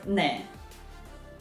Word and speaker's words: 네: we have in Korean word 네 but when they are pronouncing it sometimes it sounds like de and when I started